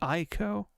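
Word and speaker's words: Ico: the old debate is it Eco or is it IO and I think I think it's been settled on eco you know I think people call it Eco there was a time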